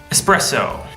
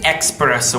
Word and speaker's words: espresso: means fork for Kenta espresso a common mistake is expresso with an X probably because of the